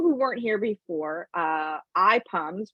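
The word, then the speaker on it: IPUMS: weren't here before uh eye pums which is spelled i-p-u-m-s is a fabulous source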